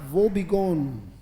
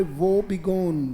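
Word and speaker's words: woebegone: या फिर इसी के लिए वर्ड आता है बेटा वो बिगोन, बोलना पड़ेगा, नहीं बेटा उच्चारण बहुत जरूरी है, बोले वो बिगोन, बोले शाबाश, वो बिगोन बोल सकते हैं आप।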